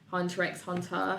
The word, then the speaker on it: Hunter x Hunter: I'm going to say Hunter x Hunter okay yes I do pronounce the X sorry don't hate me